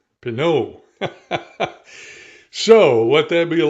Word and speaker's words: Pinaud: I have been pronouncing it, and a lot of people in the United States pronounce it Pinaud, but it's actually Pinaud. Pinaud.